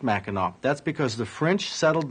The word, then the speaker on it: Mackinac: Well, above the straits, everything named Mackinac will be spelled with an AC on the end, but pronounced Mackinac.